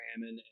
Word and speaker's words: Ammon: So we came up with the name Amex to remember how to call her Ammon.